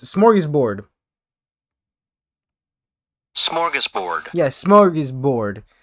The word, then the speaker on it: smorgasbord: smart google mr dictionary man how do you pronounce this it's it's smorgasbord smorgasbord yes smart is bored smorgasburg which means